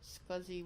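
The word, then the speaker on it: SCSI: entire disk and setup encrypted lbm I'm gonna scuzzy one that's how you pronounce that as si si you pronounce that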